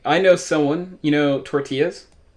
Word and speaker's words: tortilla: know someone you know tortillas they say Tour Tillis like Godzilla it's a tort illa was a tort in